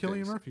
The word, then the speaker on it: Cillian: It is Killian Murphy. You're right. It is K? Yeah. Love it, then. All right. I've heard a lot of people pronounce it as C, so I guess those guys better take a look at that.